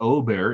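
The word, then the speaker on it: Åberg: Ludwig Aberg, or Ober, if you want to say it right, David Collier on KMAC 28.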